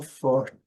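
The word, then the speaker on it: forty: O mesmo caso acontece com 40, 40. É 40, porém eles falam 40, 40, 40. Ok? 41, 42. Então, letra T também silenciosa nesse sotaque americano.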